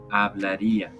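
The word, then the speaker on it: hablaría: the ending i a we pronounce it IA hablaria a Comedia and you have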